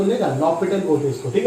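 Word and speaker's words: L'Hôpital: सही नाम तो लेगा, लॉपिटल बोलते इसको, ठीक है। एच और एस जो है वो साइलेंट है, लॉपिटल, एल हॉस्पिटल नहीं, गवार की तरह एल हॉस्पिटल मत बोलिएगा, ठीक है।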